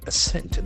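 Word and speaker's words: assent: Ascent. It's official agreement. Ascent. The accent falls on the second syllable.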